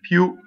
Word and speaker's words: più: Più is a strong monosyllable ending in an accent. Più.